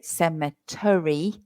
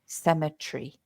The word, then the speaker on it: cemetery: me so the the the pronunciation there is a little bit odd SE tree so we don't say semetary we say symetry symmetry three syllables uh although you don't